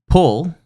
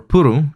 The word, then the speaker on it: Puru: And then Pul, or Puru, depending on how you pronounce it, or how the English translation is.